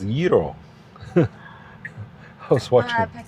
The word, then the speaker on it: gyro: Navigate to the Greek yeero. Youro? No, I was told uh it's yeero. Yeero? Yeero. Any Greek uh speakers? It's not euro, right? It's yeero.